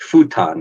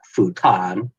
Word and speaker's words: futon: Like futon is another one. It's not futon, futon.